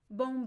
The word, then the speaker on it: bom: so uh uh however when we have the letter M at the end of word uh of syllables uh when it is not followed by a vowel the m is not pronounced in Portuguese at all so the M only works sometimes it it's only there to make the vowel nasal uh so for example